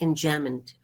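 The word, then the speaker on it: enjambment: j a m b m n t but pronounced in jamond okay my little horse must think it queer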